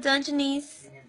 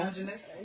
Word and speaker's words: Dungeness: So, when it's time for me to eat my little dungeonese, no dungeoness, it's dungeoness.